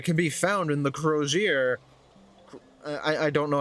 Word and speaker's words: Crozier: already oh let's go brosure it's pronounced Crozier got it committing this